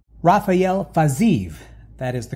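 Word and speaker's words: Fiziev: Rafael Fazayu, that is the correct pronunciation.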